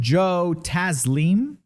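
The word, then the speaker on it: Joe Taslim: on netflix it's an indonesian action movie starring joe tazleem is how you pronounce it it's the guy who played sub-zero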